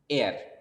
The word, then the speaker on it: heir: Okay, so heir means someone who carries legacy to the next generation. ज्याला आपण मराठीमध्ये वारस म्हणू, वारसदार, heir. Okay, so these examples also you should note down: an hour, an honest, an heir.